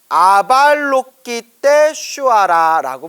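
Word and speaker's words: अवलोकितेश्वर: 대자대비 관세음보살 이렇게 표현을 합니다 관세음은 인도 산스크립터로 아발로키 때 쉬와라라고 부릅니다 아발로키 때 쉬어라 자 어렵죠 그래서 저도 아발로키 떼슈아라라고 우리가 흔히 그냥 습관처럼 발음하는데 엄격히 이제 문장의 단어의 발음을 끊었지만 아발로키떼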